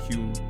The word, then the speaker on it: HVME: The remix was produced by Spanish house musician HVME, which is pronounced Hume.